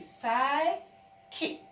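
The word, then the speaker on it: psychic: The P is there before the S, so you do not say the P sound. You say sigh, kick, sigh, kick.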